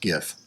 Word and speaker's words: GIF: backwards and it's pronounced GIF yes it is because it's graphic there you go graphic